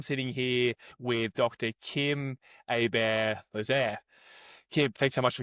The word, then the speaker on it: Hébert-Losier: So yeah, it's it's pronounced Ibar Lier.